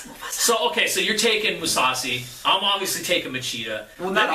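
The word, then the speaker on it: Mousasi: And then it's Musasi. Musasi. It's kind of like Mufasa. It's like Mufasa. From Lion King. Mufasa. So, okay, so you're taking Musasi.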